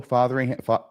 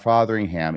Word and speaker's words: Fotheringham: It's an O, Fotheringham. I think it'd be pronounced the same either way.